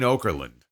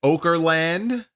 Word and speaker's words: Okerlund: Okerland position, as a tribute to Mean Gene Okerlund. Now, I don't know if he just mispronounced the man's name and called it Okerland instead of Okerland, or if that's really what they're calling it, the Okerland position.